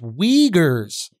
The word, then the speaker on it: Uyghurs: want to be black in china oh it's pronounced wiegers i saw it i thought that wasn't good